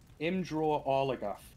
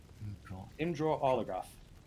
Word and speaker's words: Imdra Arlagath: Imdra Arlagath is apparently how you pronounce it. Imdra Arlagath.